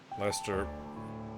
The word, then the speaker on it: Lester: Lester rhymes with molester.